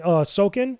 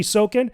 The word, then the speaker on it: Soken: Fantasy in general, but Final Fantasy 16, Masayoshi Soken, yeah, that's how you pronounce it. Masayoshi Soken, he was cooking in the lab when he was making that music.